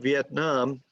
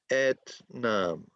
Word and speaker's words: Vietnam: Well, we have V, et, nam. So 3 syllables. Yes. Vietnam.